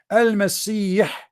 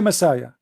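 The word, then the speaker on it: المسيح: You see, in Arabic I say Al-Masih, letter you don't have it. You don't have it in the Latin language. So you say Messiah, trying to make it close to the pronunciation.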